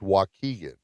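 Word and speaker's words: Waukegan: Jack Benning and I were born in That's pronounced wkegan.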